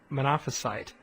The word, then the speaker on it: Monophysite: some people effect probably most people pronounce that Monophysite okay and we've had an argument at the seminary about how that's pronounced and some have cited with me saying that the accent is on the penultimate rather than anyway I'm just going